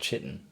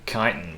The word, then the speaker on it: chitin: If it's Greek, chances are you don't pronounce the H after a C. Well, see, I didn't know chitin was Greek.